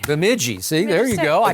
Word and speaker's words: Bemidji: Bemidji. Bemidji.